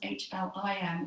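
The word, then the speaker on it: Hlrim: Obviously, L-R doesn't really allow itself to be pronounced. So what I found in chanting is that really it becomes H-L-I-M, although it's written H-L-R-I-M, is her seed mantra.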